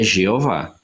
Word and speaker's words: Jeová: Brasil português a forma mais apropriada de se pronunciar e escrever é jeová lá na na Alemanha por exemplo a pronúncia